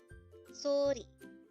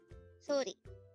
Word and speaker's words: 소리: Sori. Sori. This is composed of two syllables. The first syllable is so, and the second syllable is ri.